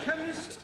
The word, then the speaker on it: chemist: me k e n chemist does not begin with a k it sounds like it begins with k CH H but that